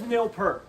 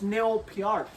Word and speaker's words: Peart: Everyone says Neil Peart, John, but it's Neil Peart because Is that he's really how you Canadian. pronounce it? Yeah, Okay. that's how you pronounce it.